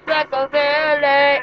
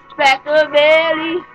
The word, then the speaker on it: Splackavellie: Say my name, Splackavellie. S-P-L-A-C-K-E-V-I-L-L-I-E. Splackavellie.